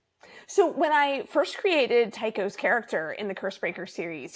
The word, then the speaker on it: Tao: um because I remember I can never pronounce this name please correct me it's a Tao yes Tao okay he was such an